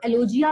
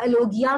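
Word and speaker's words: alogia: कर रहे हो, तो इसको एलोजिया कहा जाता है या एलोगिया कहा जाता है. You can use any of the pronunciations.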